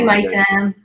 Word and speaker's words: Maitem: Hi, Maitem.